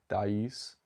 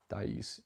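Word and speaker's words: Thaïs: Like they have Nocturne, they have Meditation from Thais. I didn't pronounce that right. I actually wait, no, it is Meditation from Thais. Thais.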